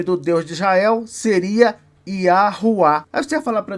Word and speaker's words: Yahweh: acordo com os árabes esse w deve ser pronunciado como u quando se referir ao nome do Deus de Israel e o nome do Deus de Israel seria iuá aí você vai falar